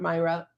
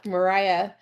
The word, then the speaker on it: Mariah: Reiki baby uh yeah Mariah sorry I was saying your name wrong Mariah Carey Mariah Carey is how I'm remembering to say your name so basically um Reiki